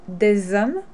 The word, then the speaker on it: des hommes: We also do this with words that start with an H, because the H in French is silent. So, des hommes, you link them together, you do the liaison, because the H is not pronounced.